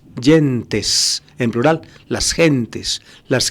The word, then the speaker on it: gentes: y gentes en plural lo pronuncian a la Italiana James yentes en plural las gentes